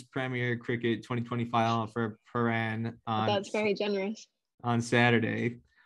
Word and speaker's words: Prahran: Yes, Prahran. How do you say it? Prahran, Prahran, Paran.